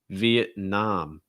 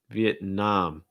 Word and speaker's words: Vietnam: get reduced thailand thailand vietnam vietnam stressed last syllable the nom and again you have that ah sound um vietnam awesome and